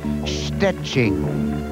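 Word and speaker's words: Szczecin: Joanna Gopinska would love to become Miss Universe, perhaps if only to teach people how to pronounce the name of her hometown in Poland. It's Stetching.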